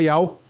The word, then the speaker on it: Yau: Ou seja, isso tudo é prova concreta de que pronúncia fonética Yao era amplamente usada na antiguidade.